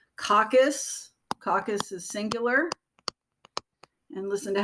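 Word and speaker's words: coccus: a spherical cell shape that we call caucus caucus is singular and listen to how i'm saying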